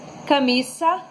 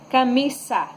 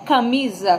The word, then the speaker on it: camisa: E aqui tem algumas palavras, pessoal, onde vocês vão pronunciar e observar que tanto esse quanto la Z tem a mesma pronúncia. Por exemplo, camisa, camisa, e não camisa, como a gente fala no português.